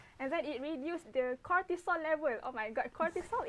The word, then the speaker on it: cortisol: Cortisol. Cortisol. Biology. Wow. How do you spell that?